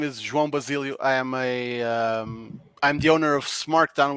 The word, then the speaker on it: João Basílio: I butchered it already. Well, nice try. Hi, everyone. My name is João Basílio.